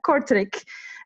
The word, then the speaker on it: Kortrijk: in Flanders, to the second youngest councillor of Kortrijk, if I pronounced that city correctly.